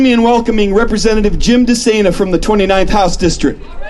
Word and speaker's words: DeSena: Moving things along here, I asked Representative Jim DeSena how to pronounce his name. He said, just think insane for running for public office. That's how you remember it.